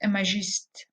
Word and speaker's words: imagiste: Well, Hilda Doolittle sent her poems to Ezra Pound, and Ezra Pound called her poems imagiste as well, using the French pronunciation.